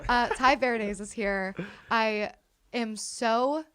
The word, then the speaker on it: Verdes: this is Ty ver it's verz that's how you say it right Ty veray veray see I said it like an idiot uh Ty veres is here I am